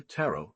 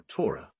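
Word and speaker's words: ROTA: like a wheel and is pronounced Roda tarot or Torah the sixth is the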